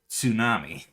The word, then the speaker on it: tsunami: is there see in tsunami because um because it's a japanese loan word and they do make the tsu sound well you you